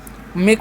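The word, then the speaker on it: make: एक का उच्चारण होगा एक के लिए। ठीक है? तो देखिए मेक मतलब क्या होता है?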